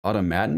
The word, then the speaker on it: Automaton: It's an MMO from Automaton Games. I don't think it's Automation. Automata. Oh, wait. I think it's Automaton Games. I'm pretty sure that's pronounced automaton. Sure. Like Fallout 4 Automaton DLC.